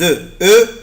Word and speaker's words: œufs: إنما ما تيجي œuf جمع يعني فيها اسم ما بنطقش الاف.